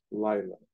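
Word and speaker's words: לילה: Lila.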